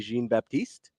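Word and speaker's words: Jean-Baptiste: the amazing Daniel says how do you pronounce Stanley jeene Baptist I pronounce it like that listen don't encourage him Stanley jeene Baptist you put a quarter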